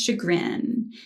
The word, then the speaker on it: chagrin: you see it's spelled c-h-a-g-r-i-n um but instead of saying it like a hard cha it's like a sha which again is kind